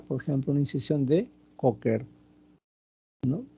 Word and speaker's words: Kocher: Entonces, la inspección obviamente es de bastante utilidad, que trataremos de buscar, por ejemplo, una incisión de Cocker, ¿no? La incisión de Cocker, se escribe Kocher, es una incisión subcostal, ¿no?